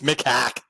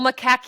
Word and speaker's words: macaque: from the monkeys because you got to say it right, Adam. Macaque. They have a name. It's Macaque. I think I'm putting the emphasis on the wrong syllable.